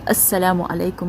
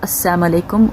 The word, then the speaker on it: assalamu alaikum: are in a hurry make sure we say the lamb we do the proper pronunciation we say assalamu alaikum which means peace be upon you and not assam alaikum which means death be upon you now um in sahih